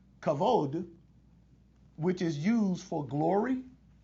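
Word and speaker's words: כבוד: another Semitic root word cavod sometimes it's pronounced cabode you know the V and the B those consonants interchangeable sometimes kavod which is used for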